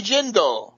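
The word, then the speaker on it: Jindal: Senate uh Senator Kirk Bobby jindel rhymes with Swindle uh as you know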